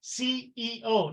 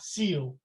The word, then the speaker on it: CEO: and by the way it's pronounced CEO not seal okay every letter has to be pronounced for an American to understand and so all the